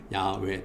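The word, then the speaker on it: 야웨: 근데 여호와는 또 이제 원문을 그대로 또 우리가 발음대로 읽으면은 야외 또는 야외가 됩니다.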